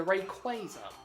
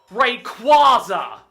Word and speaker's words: Rayquaza: This is a Rayquaza, not Rayquaza. If anyone calls it Rayquaza, you're going to meet a very unhappy chappie waiting at your front door. It has always been pronounced Rayquaza in the anime. Never once was it called Rayquaza. Literally, its name is a fusion of Ray and Quasar.